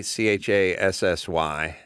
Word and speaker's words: Chassy: Yeah, Chassis, Chassy, is the way we spell it phonetically. Like resume, like it's just spelled how it's spelled.